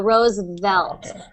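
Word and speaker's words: Roosevelt: you'll be able to do that V sound just by lightly touching your teeth on your lips so Rose velt that's how I look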